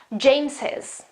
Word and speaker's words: James's: How can I pronounce that? James's, okay, there is this e, which is just phonetic, it doesn't have any grammar, any role, okay, in grammar or anything, it just helps me pronounce that, okay.